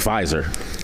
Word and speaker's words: Pfizer: I think Pfizer. Pfizer because Moderna was going away. I think so. Bitch. Oh, there you go. Silent P gang.